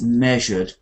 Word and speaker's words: measured: got an e a but it's measured measured and it has the J sound which is like television so this word measured